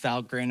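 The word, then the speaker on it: Valgrind: Uh so Val Grin uh it's pronounced Val Grin according to the website is another sort of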